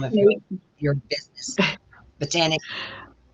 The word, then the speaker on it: Botanique: Our guest has been Lisa Randall with Botanic. Botanic. I still say Botanique. With Botanic. Okay, what's the name of your business? Botanic.